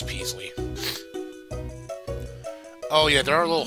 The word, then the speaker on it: Peasley: came to help Prince Presley py is that Presley oh oh okay yes Presley as the El is Presley no it's supp pronounce as Prince Peasley oh yeah there are